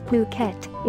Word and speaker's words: Phuket: teaching English worldwide the beautiful tropical island of Phuket fortunately pronounced as Phuket is frequently and justifiably referred to as the